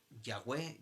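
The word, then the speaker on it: Yahvé: h del doble huila h no se puede pronunciar entonces decían ya ve yagüe entonces yo soy el que soy decía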